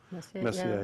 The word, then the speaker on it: Messier: That's I have an unpronounced R in my name, so Messier, yeah.